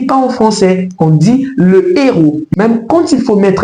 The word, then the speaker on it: héros: On dira tout simplement le héros. Le héros. Vous pouvez répéter avec moi le héros. Ne dites pas l'héros. Ça ne se dit pas en français, on dit le héros.